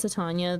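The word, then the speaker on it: Titania: I pronounce Tatana the same way I pronounce Titanium.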